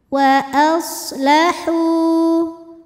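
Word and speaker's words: وأصلحوا: Wa aslahu, hu mad tabi'i dhahiri. Sebab ada waw sukun yang sebelumnya berbaris dhammah. Maka cara bacanya panjang haknya ini dua harokat.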